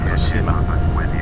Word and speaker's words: Hoceima: Hoceima. Ha! Ah, see, it just told me how to pronounce it.